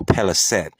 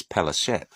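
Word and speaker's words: פלשת: Or Peliset, or in history they call them the Pelasgians. The Pelasgians, Philistines, Peliset. That's just how the other nations pronounce their name. Biblically, it's Pelashet.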